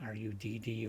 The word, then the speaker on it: Rud: I hope that's how you pronounce it, R-U-D. Rudd is usually R-U-D-D or R-U-U-D. This is just R-U-D. So I'm calling it Rudd.